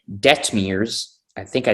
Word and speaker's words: Detmers: Reed Detmers. There you go. I think I probably butchered it.